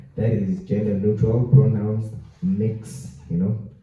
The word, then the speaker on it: Mx: You know, that is gender neutral pronouns, mix. You know, similar to Miss, it's pronounced as mix.